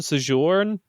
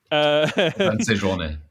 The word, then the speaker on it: Séjourné: Stéphane Séjourne. Séjourné. Séjourné. Excellent. Oh, there's an accent over There's the an E. accent, okay. Yeah. My usual strategy of dealing with French words of don't pronounce any of the last letters did not work.